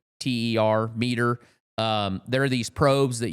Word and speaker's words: MEATER: It's called meter, but it's spelled MEATER, meter.